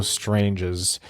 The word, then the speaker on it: Strange: second-round range currently thanks stranges is the right way to say it right strange strangest yeah it's more it's not like strangers it's more like a soft day yeah thoughts on him